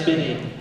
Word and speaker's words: Spinney: By the way, it's pronounced Spinney. There's two N's.